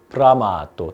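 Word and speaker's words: bramato: 우리가 발음을 굉장히 잘 해야 되는데 많은 학생들이 이런 실수를 하거든. 어떤 실수냐면은 브라마 하고 M자를 미리 닫는 경우가 되게 많아. 그럼 여기는 뭐 크게 문제는 안 돼. 그러니까 브라마또 돼야 되는 브라마또 제또 여기도 이게 겹자음이 있다 보니까 앞에도 겹자음으로 발음하거든.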